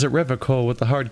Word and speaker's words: Revachol: I'd like to pronounce it the hard way, the old way, the Vespertine way.